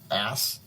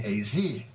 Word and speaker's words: as: Ass, I pronounced logically. No, she corrected me. I told you this last week. We pronounce it as with an AZ, not ASS.